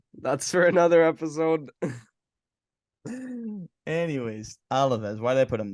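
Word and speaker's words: Alavés: Alaves, or as you say, Alves.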